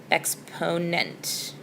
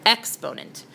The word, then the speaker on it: exponent: the N is your exponent sorry I accented the wrong syllable there exponent your exponent and that tells you